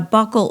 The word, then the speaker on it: buccal: And a buccal or buccal tie, is pronounced both ways depending on where you live, is when the frenum